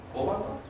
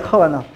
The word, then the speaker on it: Khovanov: ¿Dices Kovanov? Kovanov. Bueno, es pero creo que es Kovanov. Debería de ser, ¿no? La K y la H es J.